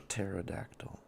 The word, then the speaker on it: pterodactyl: Let's do a pterodactyl. The pt is silent.